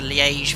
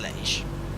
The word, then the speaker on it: Liège: So directly overhead Sitets, and we're now going to route direct to Liège VOR.